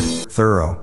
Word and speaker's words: thorough: should also know that the word thorough is not pronounced like through here's the thing if